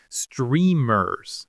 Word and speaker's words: streamers: Streamers. Stress on the first syllable.